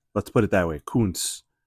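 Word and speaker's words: Koonce: Kun, but it's not spelled like the guy from Green Bay. K O O N C E.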